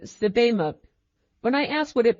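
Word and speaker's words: Sebamook: Tamant pronounced it Sibimuk.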